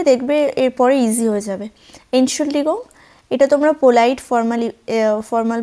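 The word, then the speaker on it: Entschuldigung: মাফ করবেন এগুলো বলার জন্য এনসলিগং তোমরা এখানে উচ্চারণটা আমি ভেঙ্গে ভেঙ্গে লিখে দিয়েছি দেখবে এনসুল ডিগং একটু চেষ্টা করবে দেখবে এরপরে ইজি হয়ে যাবে এনসুল ডিগং এটা তোমরা পোলাইড ফরমালি ফরমাল ভাবে ইউজ করতে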